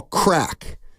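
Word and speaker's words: craic: it's more about what they call crack but it's an old Irish word it's spelled c r a i c okay and it means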